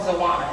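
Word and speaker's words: xoana: will tell you that the X word is a word called Zana it's spelled x o a n a um it is actually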